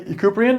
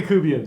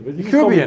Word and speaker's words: Yakubian: I'm here with Yakubian. Did I pronounce that correctly? No, but that's okay. Okay. How do you pronounce it? Yakubian. Yakubian. I was very, very close.